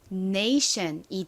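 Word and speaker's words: -tion: 바로 AS 소리가 나죠 그 소리가 가장 앞에 온 자음인 n이 가진 니은 소리와 합쳐지게 되면 어떻게 발음이 되나요 션이 됩니다 션 덩어리 소리를 알고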